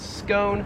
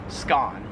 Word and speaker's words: scone: this thing right here we pronounce that in american english as scone whereas in australian english it is pronounced skaan 39 is this car